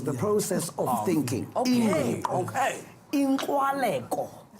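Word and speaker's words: inkxwaleko: Inkwaleko. Inkwaleko.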